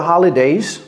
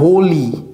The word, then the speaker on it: holiday: Do you have any plans for the holidays? Do you have any plans for the holidays? Et vous voyez comment j'ai prononcé for, j'ai pas dit for, j'ai dit for. Et ça, c'est pas holy, c'est holiday.